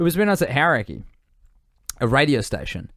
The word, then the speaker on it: Hauraki: It was when I was at Hauraki, a radio station, which is now pronounced Hauraki.